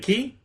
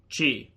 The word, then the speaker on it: chi: Is it key or chi? Chi. Chi. Chi. Dan's bet. Chi. Okay. Yeah, no, chi.